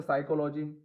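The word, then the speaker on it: psychology: तो जैसे साइकोलॉजी, इसमें पी है लेकिन बोला नहीं जा रहा है ना। निमोनिया, इसमें पी है लेकिन वो भी साइलेंट है। रेसीट, इसको क्या है गाइज, रेसीट बोला जाता है। तो यहाँ भी क्या है, पी साइलेंट हो रहा है।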